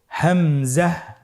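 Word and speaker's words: همزة: পরবর্তী হরফটির নাম হলো হামজা। পরবর্তী হরফটির নাম হামজা। হামজা হরফটি উচ্চারণের ক্ষেত্রে বারিক করে উচ্চারণ করতে হবে এবং এখানে টেনে পড়া যাবে না। দ্রুত পড়তে হবে। আপনারা আমার সাথে বলুন হামজা হামজাহ হামজা হরফটি উচ্চারণের স্থান হা এর মতই।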